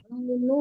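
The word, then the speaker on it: فرعون: Fir'aunu ya Bu, bukan na ya.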